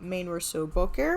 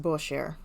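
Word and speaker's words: Mainbocher: um is from the fashion designer Maino Booker it's actually pronounced buer and I just love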